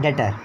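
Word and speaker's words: debtor: अब आता है डेटर। इसे डेप्टर मत पढ़ लेना, बी साइलेंट होता है।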